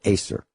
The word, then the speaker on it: Acer: Because there was a dentist by the name of David Acker, or Acer, A-C-E-R is how it's spelled.